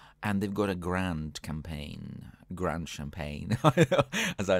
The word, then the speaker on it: campagne: started pronouncing it as champagne but this is not champagne it's not a champagne bun it's it's campaign um so a little